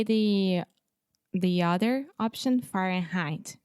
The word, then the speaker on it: Fahrenheit: more for some reason when you say Fahrenheit the first part fair in you have the final in sound so to produce this sound the tip of your tongue is touching the top of your mouth the roof of your mouth and that's how you're closing that sound okay so when you